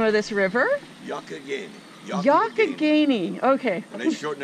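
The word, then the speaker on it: Youghiogheny: How do you pronounce the name of this river? Yokogany.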